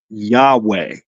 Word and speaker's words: Yahweh: same word beforehand and how you pronounce that word is Yahweh yah name of God